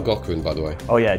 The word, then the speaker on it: Gaughran: You should spell Gaughran, by the way. Oh yeah, G-A-U-G-H-R-A-N. It rhymes with Schwarzenegger.